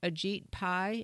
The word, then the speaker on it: Ajit Pai: the FCC and I believe his name is pronounced Ajit Pai is that right that's right yeah and he